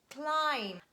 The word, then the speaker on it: climb: means to get something and letter b is silent when it stands at the under words and it is preceded by letter m so letter m stands before that and we read comb thumb num lim lam climb and its derivative climber